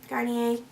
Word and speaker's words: Garnier: Continuing on, so the scrub I'm going to use this week is from Garnier. Garnier. Better pronunciation.